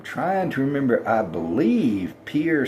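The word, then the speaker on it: Pierre: I believe Pier South Dakota, which is the only one syllable state capital, I believe it's in the south the southern part of the state.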